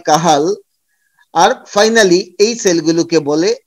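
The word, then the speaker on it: Cajal: তারপরে থাকে horizontal sell of কাহাল, actually কাজল লেখা থাকলে এর উচ্চারণটা হয় কাহাল।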